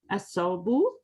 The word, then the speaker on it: الثوب: As-sawbu. Yeah. Sin or shin? Nay, this is sa.